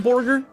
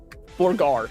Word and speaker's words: Borgar: Is it called Borger? Borgar. Sorry. How dare I mispronounce it? Look, the Millennial Burger place said you have to pronounce it as their Borgar with special house sauce.